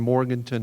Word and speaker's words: Morganton: Carolina, which is between Morganton and Hickory, or if you say it correctly. I was born and bred in Valdez, North Carolina. It's right between Morton and Hickory, not even an hour down the mountain.